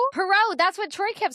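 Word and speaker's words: Poirot: Pero.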